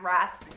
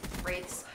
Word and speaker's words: wraith: it harder to hack wraths wraiths wrath I still don't know how to say it I know it's actually wraith but I like saying wrath better it sounds like more menacing like wrath the Wrath